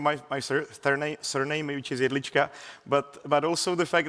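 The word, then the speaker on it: Jedlička: One more thing here actually which is not just my pronunciation my my surname which is Elichka but but also the fact actually we're not micronation.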